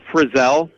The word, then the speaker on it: Frizell: Yeah, it's Frizell. Not like Frizzle with the magic school bus.